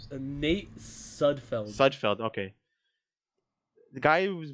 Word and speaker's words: Sudfeld: Well, he put in Stuppard. How do you pronounce his name? Nate Sudfeld.